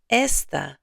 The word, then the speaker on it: esta: So note that está has an accent mark. Say this with me. Está. ¿Dónde está? ¿Cómo está? Without the accent mark, the word is this. You've been saying this in many lessons already. Let's read these together and hear the difference. Esta mañana. Esta tarde. Esta noche. The accent marks are there to help you with pronunciation.